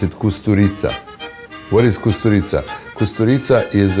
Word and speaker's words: Kusturica: You pronounce it Kusturica.